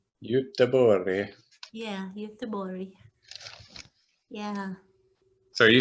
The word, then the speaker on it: Göteborg: Göteborg. Göteborg.